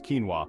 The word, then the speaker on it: quinoa: Quinoa, a nutritional powerhouse. Quinoa, pronounced quinoa, is a nutritional powerhouse often mistaken for a grain.